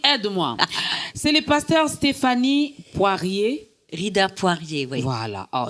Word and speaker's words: Poirier: C'est le pasteur Stéphanie Poirier. Rider Poirier. Oui. Voilà. Oh, j'ai j'ai bien prononcé.